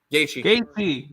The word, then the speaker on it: Gaethje: Gaethje.